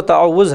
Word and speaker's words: تعوذ: اعوذ باللہ من الشیطان، تعوذ اس کا جو صحیح تلفظ ہے وہ تعوذ ہے، تو یہ آہستہ سے